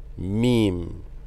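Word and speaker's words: ميم: Meme. This is similar to the English M. Meme. Meme. This is one of the letters that is pronounced with the lips mainly.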